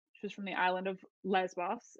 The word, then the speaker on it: Lesbos: from the island of lesbos it's just in modern pronunciation it's lesbos and she was an